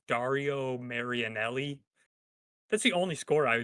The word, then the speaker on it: Dario Marianelli: I can never remember how to pronounce the guy's name. It's Dario Marianelli.